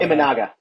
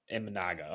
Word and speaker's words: Imanaga: Shada Imanaga. Imanaga.